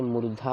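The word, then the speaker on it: मूर्धा: भी बोलते हैं हां उच्चारण सागर टाइम मुर्दा सॉफ्टवेर बताया था लेकिन मुर्दा ये मुर्धा बहुत बार हेड को भी बोला जाता है मुर्धा धा धा यह वाला धा है धा मुर्धा ठीक है अभी समझ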